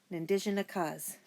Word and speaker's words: Nindijinakaz: Try saying Jojo Makoons Azure Nindijinakaz. Big last word, right? You sound out that last word like this. Nindijinakaz.